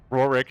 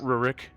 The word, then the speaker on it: Rorik: Rorik, not Rurik.